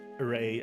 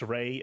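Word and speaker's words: Rei: right yeah Ray um it's a interesting pronunciation it's not Ray as a a a y it's Ray as an R re e i uh let me see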